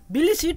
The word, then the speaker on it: Tbilisi: Yes, Tbilisi, T is silent here.